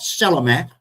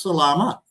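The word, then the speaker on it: Selamat: It's not sell a mat, it's salama, you know.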